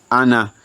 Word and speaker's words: أنا: Also remember that ana is always pronounced as ana without the alif.